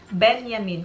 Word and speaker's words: Benjamin: Benjamin. Kaya ang J diri is pronounced as yay.